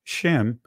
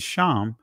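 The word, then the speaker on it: שם: school of thought uh in the Israeli pronunciation is is Shem in the ancient is sham but it means reputation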